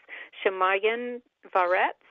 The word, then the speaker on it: Shamayim V'Aretz: So next question, I'm so curious about this, the institute that I can't pronounce, Shamayim V'Aretz Institute?